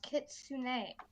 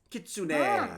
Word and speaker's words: kitsune: job associates it has nine tales and it's pronounced kitsune kitsune there you go associate producer thank you for